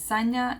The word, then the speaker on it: Sanja: on acting people but for those who want to know how to actually pronounce it that are not from a serbian background or you know where you would know it's actually signer so my name is Sonya and news like from New York so it's actually we